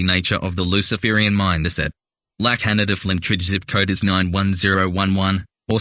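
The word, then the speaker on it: La Cañada Flintridge: Another curious postal code and name is that of LA Canada Flintridge, pronounced more like Kenyatta.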